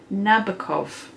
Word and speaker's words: Nabokov: So it's Lolita by, and I'm going to have to turn it around so I can read it properly, Vladamir Nabokov.